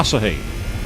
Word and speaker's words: Asahi: And I went, no, I'd like a pint of Asahi. What are you saying it like that for? And I'm like, because it's Japanese and that's how it's pronounced.